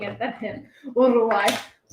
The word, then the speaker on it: Uruguay: Uruguay. You don't have to roll the R's, actually. But if you do, you sound better.